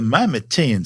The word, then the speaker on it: Mimatian: The Mimatian surface, and yes, that's how you say it, is saturated with smaller impact craters, but no others are anywhere near the size of Herschel.